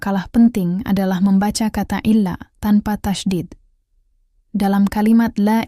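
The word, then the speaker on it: إلا: Penekanan pada kata illa ini sangat penting untuk menegaskan pengecualian tersebut. Jadi pastikan saat melafalkannya, ada penekanan yang jelas pada huruf lam. Illa. Bukan ila.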